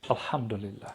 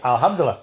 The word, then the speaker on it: Alhamdulillah: Alhamdulillah.